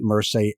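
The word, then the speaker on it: Mursay: I'm pronouncing it Mersey, M-U-R-S-A-Y.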